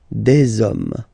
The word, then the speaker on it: hommes: homme, and after that you just put the S at the end. You don't pronounce it, so you get des hommes, okay?